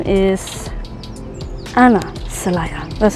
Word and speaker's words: Anna: My name is Anna Celaya. That's how you pronounce it. A lot of people say Anna, doesn't matter to me. I prefer Anna, right? Like the Spanish accent way to say my name, just because that's what